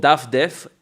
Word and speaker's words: Dafdef: It's called daffdev which means in Hebrew it's called it's mean basically mean browse.